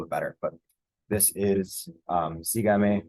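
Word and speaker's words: sígame: But this is sigame. We got to put the accent mark on it because it is our it breaks the rule of what we expect the stress syllable to be.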